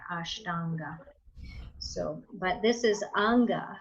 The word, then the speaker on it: Ashtanga: So Ashtanga is going to have a long A in there, Ashtanga.